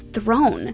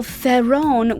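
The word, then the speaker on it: Theron: queen she explained that the proper pronunciation was thrown the real pronunciation pronunciation of my last name is throne she also admitted that while farron was incorrect she knew that the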